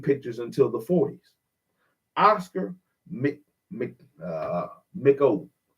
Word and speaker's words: Micheaux: Oscar Micheaux, Micheaux. I know that AUX down here, we pronounce it Bo, or O. It's an O sound. Mako.